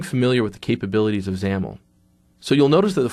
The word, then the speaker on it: XAML: are what we call zaml files you'll notice that they have the extension X AML even though it might not look like it at first that's actually pronounced zaml the xaml stands for